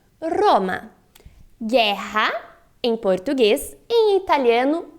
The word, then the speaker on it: Roma: bem claro essa diferença em português nós temos Roma em italiano Roma perceba que a sua língua na pronúncia do italiano ela sobe e treme Roma guerra em português em